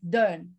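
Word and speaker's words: เดิน: write it like this it sounds more like dern like modern but without the r sound okay so more like done done done flat tone done means to walk for example bts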